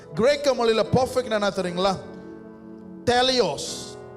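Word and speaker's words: teleios: Teleos. Am I pronouncing T-E-L-E-I-O-S? T-E-L-E-I-O-S. Teleos. iOS, like iPhone ஓட update மாதிரி இருக்கு iOS.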